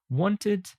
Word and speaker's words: wanted: regular past simple verbs the Ed ending is usually pronounced t or d for examp example booked arrived we only pronounce the e in Ed when there is a t or a d before it for example wanted ended and so on aha many of you can pronounce it like book it arrive it play it and so on you